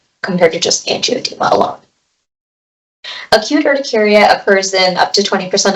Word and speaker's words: urticaria: So the definition of urticaria is where we have, and it's urticaria, the correct pronunciation for that, we have pruritic erythematous papules or plaques with superficial swelling of the dermis.